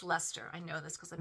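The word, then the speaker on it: Leicester: So these guys here are made with 70% Faulland wool, 15% bluefaced Lester. That's out of England and it doesn't look it looks like it's you would say Lyster but it's actually pronounced Lester.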